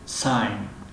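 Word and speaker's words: sign: خب حرفی گ در بعضی حالات خوانده نمی شود. اگر در بین حرف های آی و ان باید، مثل ساین، ساین علامت، رمز، نشانه، امضا کردن.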